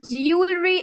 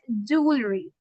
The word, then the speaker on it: jewelry: Mostly girls pronounce it as jewelry, but it's not jewelry, it is jewelry.